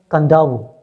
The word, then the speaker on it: Kadavu: On the island of Kadavu, pronounced as Kadavu, okay, it is written Kadavu and still pronounced as Kadavu, one of the larger islands of the Fiji groups.